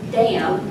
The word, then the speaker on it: damn: in the South that the word damn is two syllables is damn okay just to just